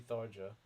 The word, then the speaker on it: Tharja: The J is more like how Thar is supposed to be pronounced. Well, apparently it's like Sanskrit, so it's actually supposed to be Tharja. Which I guess if it actually is, then I suppose it actually is pronounced that way.